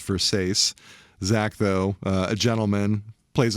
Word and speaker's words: Versace: Once again, mispronounces Versace as Versace.